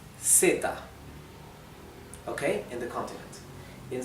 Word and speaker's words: zeta: So, in Spanish from Spain, so I mean in most parts of Spain in Europe, this would be theta, like the th in English, theta, th, right?